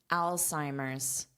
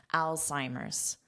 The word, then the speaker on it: Alzheimer's: But you still include the S in pronunciation and the apostrophe S in spelling. Alzheimer's.